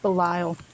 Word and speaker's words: Belial: valiya series but I feel like that's wrong Belial it's pronounced Belial fine just letting you know okay